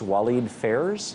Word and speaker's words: Walid Phares: of their advisors that including what is it pronounced Walid Phares PHA areas you're correct for Trump and Frank